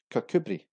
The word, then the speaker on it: Kirkcudbright: And at number 3 we have Kirkcudbright, which is actually called Kirkcudbright, Kirkcudbright. And at number 2, we have Kolkolkaha, which is actually pronounced as Kinoka.